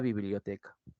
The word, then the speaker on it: biblioteca: te doy la palabra biblioteca tienes bi Bio t como te das cuenta la t es la que lleva la mayor intensidad es decir es la más fuerte de todas las demás sílabas y además nos